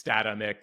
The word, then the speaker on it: Statamic: It is pronounced Statamic because it's the word static and dynamic. So if you take those, phonetical components, it's Statamic.